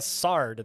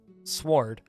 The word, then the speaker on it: sword: That would be like a sard then. If W is silent, it would be sard. It's more like I overpronounced the O. Sword. Like OH in the middle for reasons.